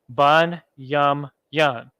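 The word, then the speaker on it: בנימין: are the West Indies bun yum yum bun yum yum keep that long tail on the gnaw there Levi law yah the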